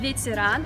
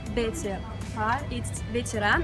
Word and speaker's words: ветеран: of this grocery store, it's called ветеран, it's not betepah, and this word in russian means veteran I don't know why a store is called this way.